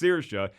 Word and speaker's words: Saoirse: go well at all it's pronounced circia it's spelled like sayeris so he'll probably say